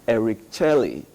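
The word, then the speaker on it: Éric Chelle: He said it should be pronounced Eric Charlie.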